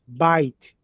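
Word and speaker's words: בית: Ó, bite, casa, palavra casa, que é tão frequente na Bíblia também.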